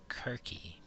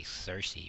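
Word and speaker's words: Circe: is the Cersei side her name is actually pronounced querque but English people say Cersei for some reason but her name is querque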